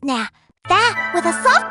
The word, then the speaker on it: nada: In Spanish, when the letter D appears between two vowels, it softens dramatically.